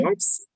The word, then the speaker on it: corpse: corpse. Corpse. What? Corpse, which is the P here is silent.